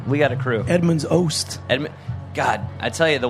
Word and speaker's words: Oast: Oats? No, it's Oast.